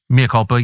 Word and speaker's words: mea culpa: So, this is my mea culpa. Is that how you say it? mea culpa Yeah.